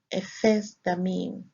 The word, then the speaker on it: Ephesdammim: It is pronounced Ephesdammim.